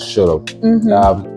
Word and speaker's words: SHULLUP: I know people have different pronunciations. Some people will say SHULLUP. I don't know. I would have gone SHULLUP. It sounds more like shut up, but it is SHULLUP.